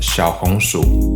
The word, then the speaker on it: Xiaohongshu: uses a play on the chinese words for little sweet potato pronounced shao hong shu to concoct a sweet